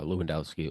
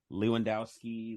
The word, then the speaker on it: Lewandowski: Lewandowski 11 Lewandowski you know you know what it is uh pronounce the W as a v that's the way they pronounce it right how Germans do it